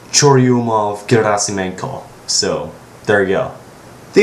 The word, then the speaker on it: Churyumov-Gerasimenko: By the way, it's pronounced Churyumov-Gerasimenko, so there you go.